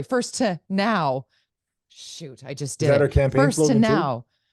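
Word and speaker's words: Furstenau: zusman that said the the green party lead leader would like to change the way her last name is pronounced it is now first to know first sorry first to now shoot I just did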